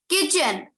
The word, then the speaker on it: kitchen: Kitchen. K-I-T. Kit. C-H-E-N. Chen. Kitchen. Okay. किचन word में T silent होता है.